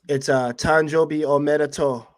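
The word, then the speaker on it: 誕生日おめでとう: It's Tanjobi Omedeto Minka-san.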